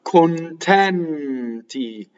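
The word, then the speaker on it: contenti: So you have closed O on the unstressed, and then you have an open E. Notice that both ends double. Why? Because they follow the principle of R. They double when they touch a consonant.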